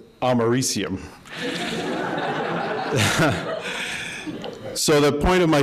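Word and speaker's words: americium: say oh yeah I know that one it's americam I was then very quickly corrected by the room over my pronunciation and found out that is pronounced amarium so the point of my story is be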